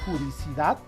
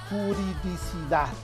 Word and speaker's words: juridicidad: De similar modo, la palabra juricidad es impropia, porque se dice juridicidad, porque viene de jurídico, ¿no?